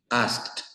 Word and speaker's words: asked: preguntar ask como si en lugar de una Ed viéramos una t imagínense una T asked parked waled check cooked